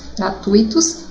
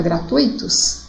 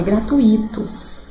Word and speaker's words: gratuitos: colegas e o professor bom muitas pessoas às vezes fala é gratuitos em coloca a sílaba tônica ruim na verdade a gratuitos que cursos gratuitos então não é gratuitos é gratuito só comente isso aqui